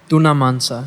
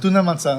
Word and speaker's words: Tuna Mansa: Today I'm here at, well, how do you pronounce the word? Because sometimes I get confused with the name. It's Tuna Mansa. Tuna Mansa.